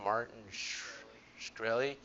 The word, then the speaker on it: Martin Shkreli: Martin Shkreli.